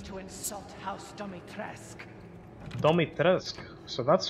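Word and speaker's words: Dimitrescu: what it means to insult house dummy trask dummy teresque so that's how you pronounce it house domitress oh oh you'll make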